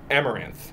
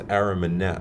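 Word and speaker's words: Amaranthe: sing you know and how do you pronounce the band's name again amaranth yeah I saw was arimin net oh yeah well I must've read it wrong yeah okay cool yeah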